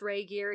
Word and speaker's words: Regier: pronounce it, but yeah, it's pronounced Regier.